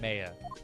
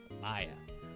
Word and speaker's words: Maya: Mia and and Maya it's Maya not Maya Maya Maya and Mia Maya yes yes Maya like the ancient Mayans if you say may